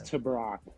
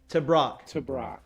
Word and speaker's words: TeBrake: pronounce it can you tell me how to pronounce this to brock to brock to brock dillon to brock creighton grad transfer in not